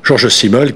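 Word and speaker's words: Georg Simmel: question c'est George Simel je le prononce à la française George Simel qui qui euh au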